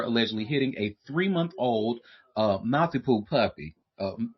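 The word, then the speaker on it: Maltipoo: hitting a three-month-old uh, Malti Poo puppy. Uh, is that how you say it? Mount. Anyway, oh, multioo. Multipoo.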